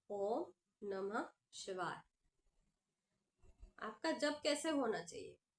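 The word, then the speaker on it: ॐ नमः शिवाय: उसका काउंट गुरु रख रहे हैं क्योंकि आपके उच्चारण मानो आप जब कर रहे हो माला में ओम नमः शिवाय ओ नमः शिवाय ओ नम शिवाय नमः शिवाय ओम नमः शिवाय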